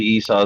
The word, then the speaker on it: Esau: recognize the name who've heard it before probably Esau is the best pronunciation remember Esau cut remember Esau Cuts Like